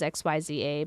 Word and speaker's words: Xyza: it's XYZ I mean people pronounce it as XY Za but uh it's always always been CA to us and um that was